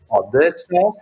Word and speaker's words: Odessa: Ce que je n'avais pas compris, c'était que en russe, le mot Odessa se prononce plus ou moins Odessa, et évidemment en yiddish, c'était devenu Hadès.